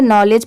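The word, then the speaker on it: knowledge: जैसे यहां पर नॉलेज में एन से स्टार्ट है। नॉलेज पढ़ेंगे। बट लिखते टाइम अगर आप स्टार्टिंग में के नहीं लगाएंगे तो आपकी स्पेलिंग रॉन्ग होगी।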